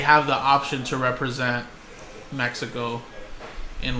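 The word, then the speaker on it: México: do Spanish now but the proper way to say it is Mexico you know not Mexico you know so I try to incorporate the way you're supposed to say it with the accent okay so my first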